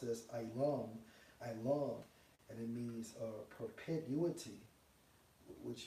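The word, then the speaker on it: עולם: And when you go into that Hebrew word for forever, the Strong's H 5957 pronounced as Ilam, and it means perpetuity, which you get the term perpetual from.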